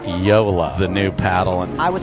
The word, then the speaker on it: JOOLA: officially moved over to yola as his paddle sponsor ben uh got a new paddle ben's playing with a new paddle the yola paddle it is pronounced yola the new paddle i